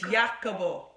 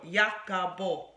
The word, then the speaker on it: Jacopo: It's Italian. It's Jacopo. It's like Jacob O. Jacopo. And the reason why it's, I did want a name that people would do exactly what you did that over. Jacopo, Jacob, Jacopo.